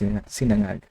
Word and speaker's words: sinangag: Josh doesn't know how to pronounce. Oh, sinangag? Yeah, that's sinangag. Yeah, sinangag is a common word for fried rice.